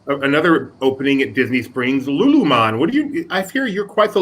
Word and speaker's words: Lululemon: You have the emphasis on the wrong syllable. It's Lululemon.